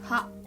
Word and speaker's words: は: And most importantly, this particle は is pronounced は as I pronounce.